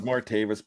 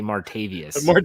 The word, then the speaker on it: Martavis: was gonna say martavis it is martavis bryant and the rest of them are really easy so i traded the raiders signed with the argonauts but you didn't pronounce it correctly for those in pittsburgh they say martavius we need to